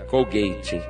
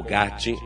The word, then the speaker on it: Colgate: da marca Colgate nos Estados Unidos se pronuncia Call Gate mas vou falar com Colgate Porque como ela é conhecida aqui no Brasil o dono dessa